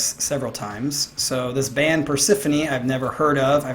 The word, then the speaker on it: Persefone: Persefone? Persefone, I think that's what it is.